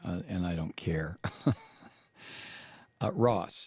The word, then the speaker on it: Ross: from New York Times russed doat or however you pronounce his name and I don't care Ross not Russ d o u t